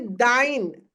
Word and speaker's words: thine: फिर दाइन, थिन नहीं है, दिन नहीं है।